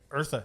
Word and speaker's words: Eartha: really want to talk about how the Eartha Kitt, is that how you say it? Eartha, yeah.